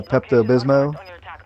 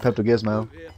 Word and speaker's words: Pepto-Bismol: like you know uh Pepto-Bismol I used to call it Pepto Gizmo that pepto-glismol let's do